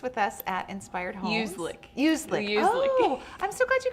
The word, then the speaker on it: Uzlik: Uzlik.